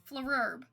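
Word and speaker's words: Flrb: ignoring me that's mean flurp FL FL RB flerb flerb that's how you pronounce that flerb that's me flerb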